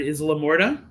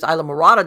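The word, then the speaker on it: Islamorada: To help me say the word, Isla Morta. Am I saying it right? Isla Morta? Isla Morta, no. Isla Morta. I'm thinking when you say that, there's Isla Morada down in the Keys.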